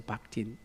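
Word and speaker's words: Bakhtin: 어, 러시아의 문학가 중에 바흐친이라고 읽기도 하고 하고 박이라고도 읽기도 하는데 리처드 박틴.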